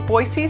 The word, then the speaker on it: Boise: there's nothing wrong with it but it is pronounced by locals boise so start practicing now boise is a pretty